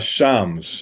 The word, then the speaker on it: Shams: So the owner, and correct me if I pronounce his name wrong, it's Sham, is that correct, Dave? Shams.